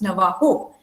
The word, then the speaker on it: Navajo: She's, as I said, she belongs to the Navajo tribe, Navajo, it's pronounced Navajo.